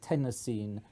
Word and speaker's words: Tennessine: that everybody will say tennessine because it sounds just like the state of Tennessee whereas tenine doesn't the reason why it was called tenine is because Tennessee is